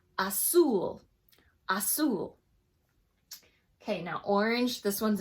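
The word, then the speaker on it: azul: have these tricky ones the Z in Spanish is pronounced like an S so blue is pronounced 'soul 'soul okay now orange this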